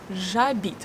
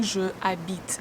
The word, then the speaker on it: j'habite: We don't say je habite. We say j'habite. We omitted this sound because the next word, the verb habiter, starts with actually a vowel. We don't pronounce H in this verb, so we start this word with A. And when a verb starts with a vowel or H, we need to omit E caduc in je.